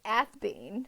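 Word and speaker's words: Athebyne: Okay, according to the Athenbine. audio, it's Athbean. Is how they say it, Athbean.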